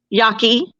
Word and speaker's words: Yaqui: You had the Yaqui, did I pronounce that right? Yaqui.